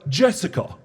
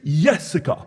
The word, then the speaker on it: Jessica: refer to her as Jessica, which is almost correct. You see, she is Dutch, meaning that she comes from the Netherlands, where the correct pronunciation is Jessica. The J is pronounced like a Y, but I just call her sweetheart.